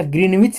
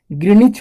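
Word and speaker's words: Greenwich: सभी देशों ने निश्चय किया कि ग्रीनिच, ध्यान रखिएगा ग्रीनविच नहीं होता है, बहुत बच्चे ग्रीनविच रट लगाते हैं, तो ऐसा नहीं होता है, ग्रीनिच होता है।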